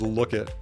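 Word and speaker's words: lookit: on the list is look it l-o-o-k-i-t and you just mash it all together instead of saying check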